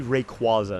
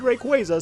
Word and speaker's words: Rayquaza: I still want to say Rayquaza instead of Rayquaza because that always just made more sense to me. And I know a lot of people say it like that, but the anime said Rayquaza, so may as well follow that authoritative bit.